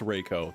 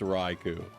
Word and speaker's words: Raichu: I There's no way it's There's no way it's Reiko. There's no way. It's Rau. Everybody knows it's Raichu.